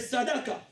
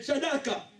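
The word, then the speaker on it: צדקה: Et les juifs l'appellent les sadaka. Les tzedaka. C'est comme ça que les juifs les prononcent même.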